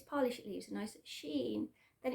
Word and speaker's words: Shein: have a look on sheen i actually said it right this time i always say she in on all of my other halls um and the amount